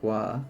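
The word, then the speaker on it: は: Okay, you probably noticed ha was read as wah.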